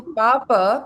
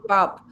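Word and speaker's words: pāpa: we are anglicizing it it should actually be pop some people but it's wrong because unless there is a Hal we have to pronounce it fully it is Papa it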